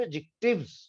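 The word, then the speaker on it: adjective: Pronunciation याद रख लेना, ये एडजेक्टिव नहीं हुआ करता है। जितने भी अंग्रेजी के लफ्ज ए डी जे से शुरू होते हैं उसमें डी जो है वो म्यूट हुआ करता है, वो कभी भी नहीं बोला जाता।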